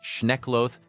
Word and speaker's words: Schneckloth: There is a 1973 Supreme Court ruling called Schneckloth versus Bustamonte, pronounced Schneckloth versus Bustamonte, that still governs traffic stops today.